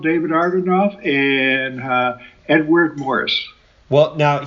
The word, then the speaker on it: Agranoff: Yeah, you put the R before the G, which a lot of people do, but it's Agranoff, not.